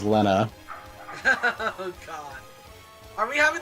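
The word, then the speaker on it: Lenna: I mean, currently Lynn is doing pretty okay, so I don't know what you're talking about. Excuse me, sir. I think you meant to I think you mispronounced Lena's Ferris's name is Lena.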